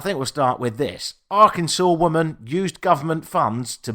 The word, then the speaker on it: Arkansas: I ever spoke about Arkansas I called it Aransas cuz that's how it's spelled phonetically and I still don't quite understand how anyone ever managed to come up with Arkansas but that's the place that it is uh